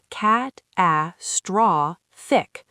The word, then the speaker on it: catastrophic: Catastrophic has stress on the third syllable. Cat, a straw, thick.